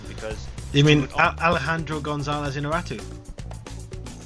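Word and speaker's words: Iñárritu: You mean Alejandro González Inarritu? So close, Inarritu. Ah, you're a... He just absolutely butchered it badly.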